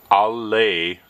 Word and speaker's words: alleluia: Here again we can see the original Greek, and the phonetic spelling or the pronunciation is alleluia, alleluia, not Allah. With a lazy A, it is alle, long A sound, alleluia.